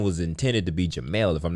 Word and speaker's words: Jamel: Yeah, and my parents they called it Jamel, which would be a E, J-A-M-E-L.